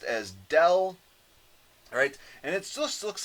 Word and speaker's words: del: operator right it's called a differential operator it's pronounced as del alright and it looks like this upside down